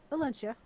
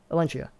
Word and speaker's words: Elentia: How do you pronounce that, by the way? Elentia. Elentia.